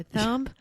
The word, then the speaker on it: thumb: of other animals and we say thumb we do not say thumb thumb no we never say B there's no B thumbs yeah thumbs just